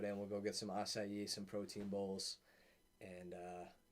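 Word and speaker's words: açaí: have you ever had nice able oh my god i kind of pronounced that what was that acai got a little weird symbol underneath the c i love the eyes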